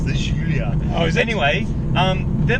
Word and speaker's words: Giulia: I'll do you the perfect pronunciation. It's the Guiglietta. It's the Giulia.